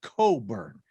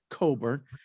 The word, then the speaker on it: Cockburn: His last name looks like Cockburn, but it's pronounced Coburn. So Kofi Coburn.